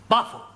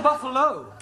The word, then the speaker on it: buffalo: Went first to see Buffle. Buffle? Like a big bull. Oh, Buffalo. Taro confused them. Yeah. Words that end in O, like buffalo or radio or vertigo, you pronounce the O.